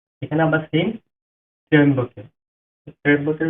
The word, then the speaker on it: ত্র্যম্বকে: এখানে আবার সেম ত্র্যম্বকে। ত্র্যম্বকের উচ্চারণ হবে ত্র।